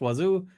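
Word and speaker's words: Wazzu: is home of uh Wazoo locally pronounced Wazoo and yes you find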